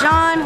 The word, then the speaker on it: Jean: name is Jean. Welcome to the channel. It's spelled. Dang it, how do you do it? What's up, guys? Welcome to the video. My name is Jean, spelled like Jean. It's French.